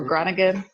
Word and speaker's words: Groningen: 20 minutes south of Groningen or Groningen, if you're if you speak English. It's that, but the pronunciation is Groningen.